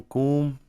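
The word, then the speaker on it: קוּם: Dice transliteración cuan pronunciación cum.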